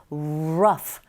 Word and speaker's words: rough: 뒤에 나오는 rough 발음하실 때 자, R 사운드 맨 처음에 보이게 되면 입모양을 동그랗게 한 상태에서 우로 시작한다고 기억하시고 발음하면 됩니다. rough.